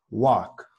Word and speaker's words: walk: sería el verbo caminar caminar se pronuncia de esta manera work work work vale no tiene como pronunció una combinación entre la a y la o pero no digo ni walk on tampoco digo walk con o estoy utilizando esta